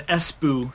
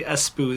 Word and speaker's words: Espoo: mean um it means indestructible cell phone financial pronunciation it's um finnish see here yeah it's uh it's headquartered in espoo finland so esboo's a place if you didn't know espoo is a city espu there's a city named espoo it employs uh